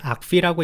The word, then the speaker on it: argv: 외국에서 강의 등을 보시게 되면 일반적으로 이걸 argv라고 읽는 경우가 굉장히 많습니다. 근데 너무 꼬아야 하는 발음이다 보니까 한국에서 읽을 때는 그냥 명령 매개 변수라고 한글로 읽는 경우도 굉장히 많고요. 혼자서 읽으실 때는 아르그부하고 읽으시는 분들이 많은데 매우 표준적이지는 않은 표현이기 때문에 강의에서는 사용하지 않도록 하겠습니다.